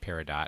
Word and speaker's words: Peridot: I've looked up say it's pronounced Peridot, which I just think sounds awful.